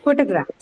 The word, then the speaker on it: photograph: Photograph. So it's marked on the first syllable.